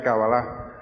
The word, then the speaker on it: Cábala: en el lenguaje santo, el acento va en la última A, se pronuncia Cábala.